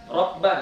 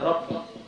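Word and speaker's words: ربّ: Rabba, ya, jangan Rabbi.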